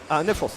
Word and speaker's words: Neffros: Is that how you pronounce his name? Neffros, yes.